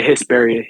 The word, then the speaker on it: Hesperia: Is that how you say it? Hesperia, right? Yeah, Hesperia. Yeah, you said it right.